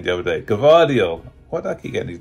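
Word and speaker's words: Gvardiol: I heard today is if um go the garva doyle Governor Doyle sorry give audio yeah again I butchered that name the other day cavadio why'd I keep getting these names wrong it's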